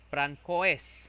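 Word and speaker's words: François: Then we have also Frances Francois Marie Auriet. Okay, you see, Francois or Franco. Yung silent S kasi dapat, di ba?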